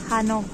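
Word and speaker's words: Hannover: para hana Ahí está Recuerden que la B se pronuncia como F hanov y la r al final como es así para tiktok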